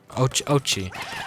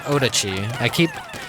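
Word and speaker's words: Oatchi: Ochi. Not Odachi. I think I like accidentally kept pronouncing it Odachi in the demo. I'm like, oh, it's oats, like oats.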